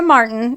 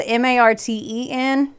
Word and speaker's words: Marten: Maria Marten, and this is spelled Marten, and then it evolved to Ti later, but it's Ten, was born on July 24th,